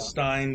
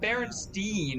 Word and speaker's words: Berenstain: Berenstain. Yeah, it's not Berenstein, it's Berenstain. Yeah. Berenstain is how it's spelled.